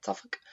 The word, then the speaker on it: Suffolk: suffolk uk suffolk is how you say it suffolk and beth martin says hi and beth was